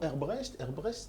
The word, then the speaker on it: Hebbrecht: Herbrecht? Alors il y a plusieurs prononciations. Dites Hebrec, c'est beaucoup plus simple. Hebrec. Voilà, Hebrec, c'est très bien.